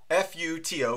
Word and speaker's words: FUTO: If you open up your browser and you just type in at your search, F-U-T-O, Futo, I guess is how you say it.